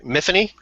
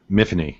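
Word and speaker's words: Myfanwy: main character's name sorry miany yeah because because it said that it was like Tiffany it rhymed with Tiffany because Welsh right is that how you read it too John um mhany yeah yeah I mean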